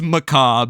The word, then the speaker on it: Macabre: name of this card fairy maab fairy maab maab macab ma all right it's maab but we had to look